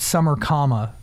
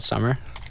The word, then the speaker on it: summer,: I'm really obsessed with summer comma yeah is that the right way to say it you just call it summer but what there's a